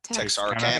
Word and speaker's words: Texarkana: Texarkana. Texarkana. Is based on the Texarkana Moonlight. What did you, Todd? I said it's a cool town. Been there. Oh, all right. Based on the Texarkana Moonlight murders that took place in what year?